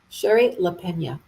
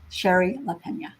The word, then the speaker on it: Shari Lapena: say your name properly you say it Sherry Sherry Leena Sher laena and now you know what book to ask